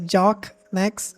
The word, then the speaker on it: Jock Nex: It's pronounced as Jock Nex or you can call me Jock if you want.